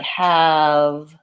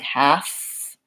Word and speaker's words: have: and F being voiceless sometimes when we have the V sign at the ends of words people might have a tendency to say the F sound when they should be saying a voiced sound so words like have and give might accidentally sound like half and gifts and you really do want to have voicing on that V in all of those cases there is one word